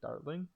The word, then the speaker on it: Dartling: Not Gatling, don't say that. Say Dartling. That's the correct pronunciation.